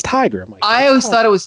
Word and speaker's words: Tigra: and you keep saying tigra is that the canadian way to pronounce it it's tiger i always thought it was tigra it's tiger like a tiger are you sure about